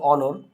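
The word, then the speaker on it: honour: ওকে, এরপরে আমরা দুইটা ওয়ার্ড একটু লিখি, তারপর আমরা লিখতে পারি অনর, অনার যেটা আমরা বলি।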